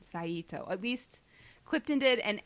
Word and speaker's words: Saito: His name is Saito, Yes. not Saito. I can't. Orens. Yeah. So many people said his name, Saito.